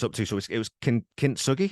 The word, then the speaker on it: Kintsugi: So it was Kintsugi. It's Kintsugi. Is that how you pronounce it? Kintsugi.